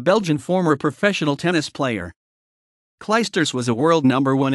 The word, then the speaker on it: Clijsters: qiyam Antony load Cloisters Dutch pronunciation kin cliff stirs listen born June 8th 1983 is a Belgian former professional tennis player cly stirrers was a world number